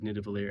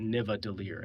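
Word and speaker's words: Nidavellir: Um, it's also funny that Chris Hemsworth mispronounces navalier every time. He calls it Nvadier. And if you listen closely, he pronounces it wrong every time.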